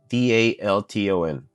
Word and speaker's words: Dalton: D A L T O N Dalton We saw Dalton in the One Piece live action that turned into a bison.